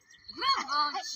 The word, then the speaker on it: Glückwunsch: Glückwunsch. You go up on the Gluck.